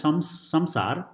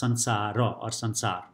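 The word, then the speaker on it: संसार: And then sansar, this is written as samsar, but it's mostly pronounced as sansara or sansar.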